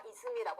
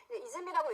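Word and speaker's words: 泉: 음으로 들어갈 때는 샘이기는 하지만 우리가 온천 들어갈 때는 온센이라고 하잖아요, 여러분. 그죠? 그런데 샘이라는 의미로 들어갈 때는 우리가 이슴이라고 한다. 아까도 써드렸지만 이해되셨어요? 그래서 이렇게 정리를 하세요. 이즘이라고 읽히는 경우가 나오는 건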